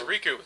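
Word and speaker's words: Rikku: k u so is it Riku or it's Riku they say in the game Rick it's Ru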